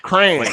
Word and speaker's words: crayons: How you say it again? Cranes. crayons. Crayons. Like cranberry. Oh, crayons.